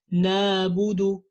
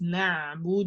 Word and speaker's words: نعبد: So we would say something like nabudu إياك نعبد. It's not نعبد, it's نعبد. You have to make it specific from the throat.